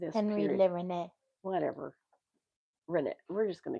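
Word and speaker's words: Rennet: Rene. Reneette. Rene. It's French. I'm English. Reneette. Rene. The French don't pronounce the T.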